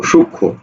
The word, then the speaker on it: সূক্ষ্ম: দেখো, সংযুক্ত ব্যঞ্জনে যুক্ত ম, অর্থাৎ যুক্ত ব্যঞ্জনে যদি ম থাকে তাহলে উচ্চারণ হবে না, কারণ সরি, দ্বিত্ব টিত্ব কিচ্ছু করবে না, ঠিক আছে, আর মত উচ্চারণ হয়ই না।